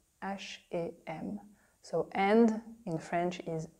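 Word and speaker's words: H&M: just so you know this is how we say it in French we say ash am ash am so and in French is a ash am and it's like to learn together a shame a shame oh this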